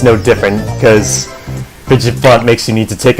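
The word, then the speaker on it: Fidgephant: It's fidget font. That's how it's pronounced, because it's fidget and an elephant. Like, that's how it's pronounced in the English dub for some reason, and in the game.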